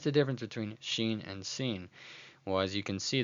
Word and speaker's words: sin: But when the dot at the top is on the left side, it is actually referred to as the word sin, pronounced as s, as in the word sad.